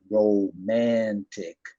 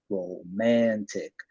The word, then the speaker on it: romantic: So we're going to a romantic restaurant and show them romantic, 3 syllables, romantic.